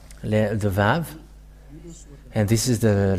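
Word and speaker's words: ו: The Vav. And this is the letter Vav. This is the Vav. The way to read this is V as in Vag. So V, that is how it is read.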